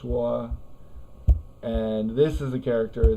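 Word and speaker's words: 说: So this is the character that in Chinese is pronounced shuo, and this is the character that in Chinese is pronounced hua.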